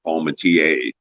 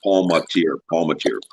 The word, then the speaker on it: Palmentier: If you're going to pronounce it correctly, as in the French way, it would be Palmentier. Oh, okay. I'm gonna chuckle at that. It's Palmentier. Okay.